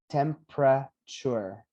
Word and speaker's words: temperature: soon anyway next one we are gonna eliminate this e and we're gonna have three syllables temperature temperature everybody temperature temperature everybody